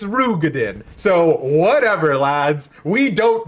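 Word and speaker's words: Roegadyn: But according to Cooji Fox, it's not Rogadan, it's Rugadin.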